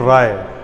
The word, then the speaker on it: Rai: क्या स्पेलिंग था? RAI। Typhoon का क्या नाम था? राई, यानी राय। तो इस टाइफून का नाम क्या हो जाएगा? टाइफून राय। जैसे धनपत राय वैसे ही हो गया टाइफून राय।